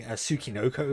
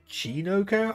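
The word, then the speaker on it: Tsuchinoko: And actually, I need to correct something, because I was pronouncing Tsukinoko wrong. It should be Chinoko, I think.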